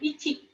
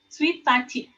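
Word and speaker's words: ついたち: Nah, untuk angka tanggal 1 itu bacanya bukan ichi, tapi suitachi.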